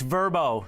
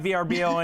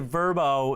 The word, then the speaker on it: Vrbo: get this right guys it's verbo it's not vrbo anymore they pronounce it verbo uh that is the